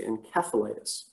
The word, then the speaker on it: encephalitis: us we say encephalitis apparently in the uk they like to say encephalitis um and i think that has something to do with the original greek word um that's actually probably a proper pronunciation so you might hear both encephalitis or encephalitis just a little note on that for you so lyme disease